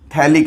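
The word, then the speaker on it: phthalic: बड़ा फेमस नाम है थैलिक एसिड। P साइलेंट होता है, गैब्रियल थैलेमाइड रिएक्शन आगे आएगी तो इसमें इसका यूज भी आने वाला है।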